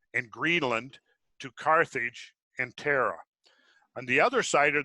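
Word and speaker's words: Thera: that's what we're talking about right there that's pronounced Terra Terra silent yes okay ah so that's so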